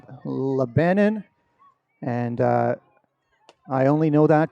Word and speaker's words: Lebanon: It is being held in Lebanon, Ohio. Not Lebanon, Ohio, as I made the mistake last week. No, Lebanon.